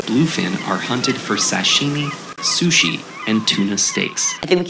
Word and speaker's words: sushi: to emerge next word i've seen some video clips of japanese people pronouncing this word as susie if there are japanese speakers or if there are learners there who are studying japanese language correct me if i'm wrong but i think i'm hearing susie without an age but in english we're pronouncing or we're saying this word is sushi again that's sushi and